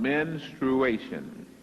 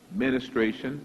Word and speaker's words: menstruation: It is based on menstruation. Menstruation. Many times it is pronounced ministration. That is not correct. But one thing is, it starts with men.